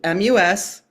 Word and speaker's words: Muskegon: because the motto for Muskegon, Michigan, and I'm going to spell it out for you, Muskegon. So there's an S, a go, and an us and a go in it, right?